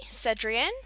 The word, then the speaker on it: Cedrienne: Hey guys, and welcome to another roleplay review done by me, Cedrienne, which is how you say the name.